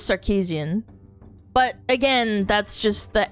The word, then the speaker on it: Sarkeesian: I I'll say Sarkeesian because that's the American way of pronouncing it, but she's part Armenian and the way you say it is Sarkeesian.